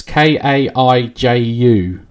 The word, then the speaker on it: kaiju: gigabash which is i don't know how to pronounce that it's k-a-i-j-u kaiju brawler yeah kaiju is just a term